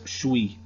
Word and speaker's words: suis: In New England French, it's suis. And you can see it's pronounced there, suis, just you kind of combine it into one.